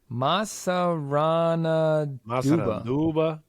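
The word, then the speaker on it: Massaranduba: Masaranduba.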